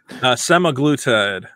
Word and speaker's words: semaglutide: How do you pronounce it? Semaglutide.